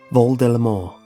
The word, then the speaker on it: Voldemort: named Harry Potter's nemesis his name actually derives from the French phrase flight of death V deore when saying this the t is silent and it has been